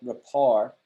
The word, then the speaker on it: rapport: in the past right rapport um it looks like report but it's spelt rapport it's a french word um so rapport is